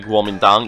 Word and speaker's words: Guomindang: Then the nationalists, aka Kuomintang, yes, I'm pronouncing it with a G, decided that the communists